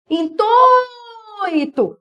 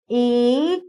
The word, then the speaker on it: intuito: Intuito. O I é rápido, ó. Intuito.